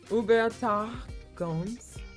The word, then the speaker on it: Übertragungs: Übertragungs. You missed the R. Übertragungs. Oh, yeah. Übertragungs. TR. Tragungs. Yes.